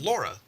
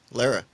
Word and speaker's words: Lara: It's Laura. Lara. It's Laura. Lara. There you go. That's another acceptable pronunciation.